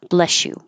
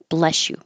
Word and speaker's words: bless you: correct bless you but when you have an S next to a y and you keep the air flow going and your tongue moving that creates a sh bless you bless you a is pronounced in